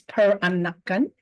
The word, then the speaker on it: Peranakan: again please yes the generic word is per anakan a four syllable word it comes from the